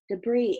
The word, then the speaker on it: debris: suits like shotgun pellets debris is spelt funny it's spelled de BR is debris and it means that